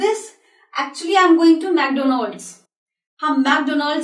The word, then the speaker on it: McDonald's: Wo jo clown had, the name of the person was Ronald McDonald's, aur unhi ke naam par ye food chain bani hai, which we actually pronounce McDonald.